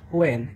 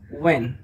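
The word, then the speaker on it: when: Watt, এটা নট হোয়েন, ইটস ওয়েন, এখানে যথারীতি এইচ সাইলেন্ট থাকবে।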